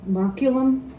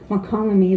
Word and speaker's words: Mokelumne: want to say it, but it's really Mokelumne, like Tuolumne. It's spelled like Tuolumne, and I know Tuolumne, but Mokelumne, it's hard for me to say that.